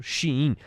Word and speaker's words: Shein: Por protocolo aqui, vamos falar então como os veículos de comunicação têm falado, Shein, parece ser a pronúncia correta.